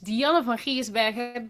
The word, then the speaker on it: Dianne van Giersbergen: My name is Dianne or in Dutch Dianne van Giersbergen but that's something no one can pronounce.